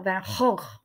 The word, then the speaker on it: Van Gogh: This really frustrated Vincent when he was alive because the correct way to say his name is Vincent van Gogh.